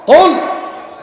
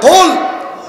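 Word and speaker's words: قُلْ: কুল মোটা করে হবে, কুল। হে নবী আপনি বলুন আল্লাহ একক একক। হে নবী আপনি বলেন আল্লাহ একক একক। এখন আপনি যদি এটা পড়ার সময় মোটা করে কাফ উচ্চারণ করতে না পারেন, আপনি যদি চিকুন করে বলেন যে কুল, কি কুল? কুল মানে খাও।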